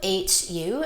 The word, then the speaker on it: Hu: My favorite word to use is Hu, H-U. It's pronounced Hu.